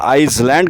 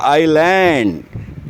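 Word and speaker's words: island: जो बोलते हैं ना आइसलैंड कहते हैं उसे आइसलैंड नहीं या आइसलैंड नहीं होता है आइलैंड इसमें एस साइलेंट है आइलैंड आइलैंड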